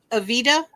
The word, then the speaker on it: Evita: Evita, is that how you say it?